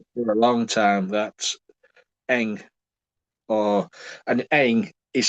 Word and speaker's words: Ng: That's Eng, or and Eng is spelt with just the two initials NG. Yeah, And people in interviews and stuff like that say NG.